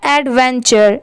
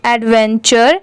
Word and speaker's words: adventure: अब जैसे यहाँ पर देखिए AD ऐड होता है, VEN वैन होता है और TURE यहाँ पर टूरे नहीं पढ़ेंगे इसे, इसके साउंड यहाँ पर चर की आएगी। ठीक है, तो इसीलिए इसे क्या पढ़ेंगे, तीनों को मिला देंगे तो एडवेंचर।